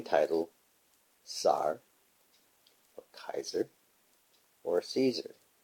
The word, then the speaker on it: Caesar: When we look up what we say is Caesar, the correct pronunciation, the C is not a S sound, it is a hard sound, which is K.